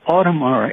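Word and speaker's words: Audemars: And I'm pronouncing it like they do with you call Switzerland. Otmar.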